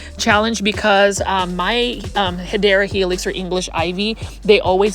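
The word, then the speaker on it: Hedera helix: Now this one right here is a Hedra Helix or the correct way to say it is Hideera Helix.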